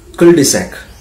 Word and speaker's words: cul-de-sac: Number 14, cul-de-sac. Cul-de-sac, C-U-L-D-E-S-A-C, C-U-L-D-E-S-A-C, we pronounce it cul-de-sac, C-U-L-D-E-S-A-C, cul-de-sac.